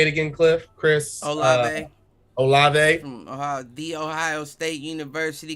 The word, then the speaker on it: Olave: Chris Olave Olave.